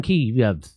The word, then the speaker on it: Kiev: saying oh yeah i it's chicken key it's not chicken keef and so i'm so differently k-i-e-v chicken kiev oh yeah yes just